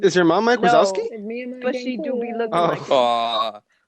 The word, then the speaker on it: Wazowski: You did a Mike Wadowski. Wadowski. Yes, I did. Did I say it wrong? Wadowski. Wait, How is it Wazowski. Yes, you did. Was that? Oh, there's a Z in there.